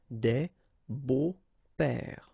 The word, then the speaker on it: beaux-pères: But then it's exactly the same thing, because you don't pronounce it. Des beaux-pères, okay? Remember the S, but then it's silent.